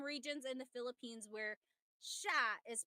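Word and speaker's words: siya: But the si y combination that makes a sh sound.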